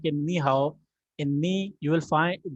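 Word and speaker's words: 你好: When there is always two third tones together, so we have to read them. The ni would have the second tone in our pronunciation. Ni will have the second tone, and the hao will have to be in third tone.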